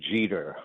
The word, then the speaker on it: Jeter: Wanda Pataki Jeter rhymes with cheater.